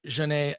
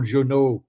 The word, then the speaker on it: Jeunet: spell very well my name because Harvey Weinstein was used to say Jean-Paul Jeunet. Oh, no. Oh, it's Jeunet.